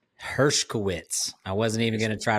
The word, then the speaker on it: Hershkowitz: how do you say your last name herwitz herwitz I wasn't even gonna try to butcher that